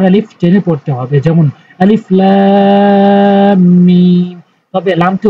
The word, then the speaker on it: আলিফ লাম মিম: যেমন আলিফ লাম মিম। তবে এই ভুলটি যেন কখনোই না হয় যে আগে লাম উচ্চারণ করবেন তারপরে টানবেন, আগে টানবেন তারপরে কিন্তু উচ্চারণ করতে হবে।